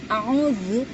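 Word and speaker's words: أعوذ: Untuk menekan yaitu lidah, pangkal lidah yang tengah yang bagian dekat pita suara itu kayak rasanya kayak ditekan ya, a'udzu.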